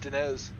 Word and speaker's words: Diniz: one and uh cs it's pronounced dines dumbass loving this dump